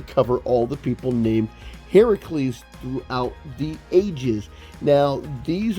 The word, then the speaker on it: Heracles: his name is pronounced heracles everyone says hercules right everybody is pronouncing the roman um everybody is pronouncing the roman translated version of the greek name which is actually pronounced heracles why does everybody get